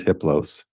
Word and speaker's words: Hippos: a level four entity his name is hippos the H is silent the other three are